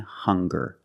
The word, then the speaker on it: hunger: Also, we have these two words, hungry and hunger. They also make the same sound with the nasal sound and the hard g.